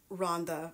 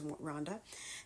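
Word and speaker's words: Rwanda: or in Yemen or in Rhonda which I just learned the other day is how you pronounce it it's not real Wanda it's Rhonda anyway um the lucky thing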